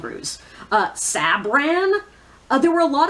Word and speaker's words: Ruse: I've heard some people pronounce it Russ, and I'm like, that's not how it's spelled. It's spelled Ruse.